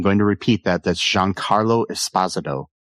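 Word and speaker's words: Giancarlo Esposito: McInley as Davis Rig Lanllo, Jean Carlo Espazado as Charlie Dunt, and I'm going to repeat that. That's Jean Carlo Espazado, not Jean Carlo Espazito as a lot of people want to say, but yeah.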